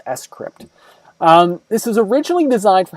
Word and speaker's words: scrypt: So to me, I always want to say Scrypt when I look at it, but it's actually pronounced Scrypt.